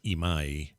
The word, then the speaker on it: Imai: Yes, my last name, Amai, is Japanese and it's pronounced Imai.